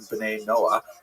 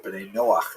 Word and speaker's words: B'nai Noach: And this is basically a Hebrew term, B'nai Noah, or B'nai Noach is the way Jews would pronounce it, that refers to all